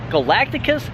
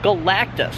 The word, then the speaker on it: Galactus: I always say his name right. Wrong. Galacticus Galactus.